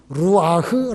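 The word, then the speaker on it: רוח: 성경 원리에 맞지 않습니다 히브리 말로 순 이라는 마름 루아흐 라고 발음합니다 숨을 누아 거라고 하는데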